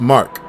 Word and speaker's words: MK: MK is actually pronounced Mark. I think I kind of knew that, but I just pronounced MK out of habit. But yeah, I'll try to remember the mark.